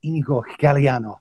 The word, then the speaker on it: Inigo Galiano: you uh there mr igor galliano have i pronounced that correctly yes that that's really good yeah that was perfect so do you want